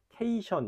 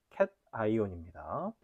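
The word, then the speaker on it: cation: 이르면 양온인데 양이온은 영어로 캐타이온이라고 합니다.이 캐타이온은 케이션 이런 식으로 발음하면 안 돼요.온 캣 아이온입니다.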